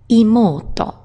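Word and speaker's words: 妹: Younger sister, someone else's younger sister, she has honorific san, and she's called imoto. Imoto. You give her one toy, and she wants more toys. More, imoto-san.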